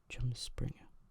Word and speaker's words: Rumspringa: Pronounced Rumspringa. Chirosclerosis.